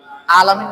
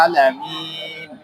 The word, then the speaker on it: العالمين: হাম হ্যাঁ আলহামদুলিল্লাহি রাব্বিল আলামিন কইলে হইতো না আলাম এখানে আইন আছে আলামিন হ্যাঁ এখন আইন বলার